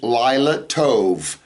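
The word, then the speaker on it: לילה טוב: speaking, if they're saying good night, they'll say Lila Tov, Tov being good, all right? So Lila Tov, good night.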